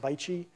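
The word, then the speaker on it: BAIC: it's the acronym is B AIC or it's pronounced bichi um bichi acquired from Saab as GM was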